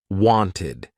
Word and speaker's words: wanted: If a verb ends in t or d, the ed ending will be pronounced ID. Want ends in a t. Wanted.